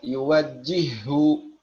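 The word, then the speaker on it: يوجه: Ya, contohnya yuwajjihu, yuwajjihu, yuwajjihu. Jangan lagi diucapkan hak yang pertama. Misalnya yuwajjihu, yuwajjihu. Jangan ya, langsung menjadi huruf kedua yang ditasydid. Jadi kita mengucapkan satu huruf ha saja.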